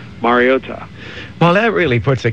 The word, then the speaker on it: Mariota: Think Mario as the first part, and then Ta is the last part, but it just sort of all blends together as Mariota.